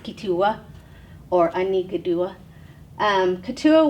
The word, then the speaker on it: Keetoowah: and for people they spell it k-e-e-t-o-o-w-a-h so katua but it's pronounced kitua or anika dua um katua was the name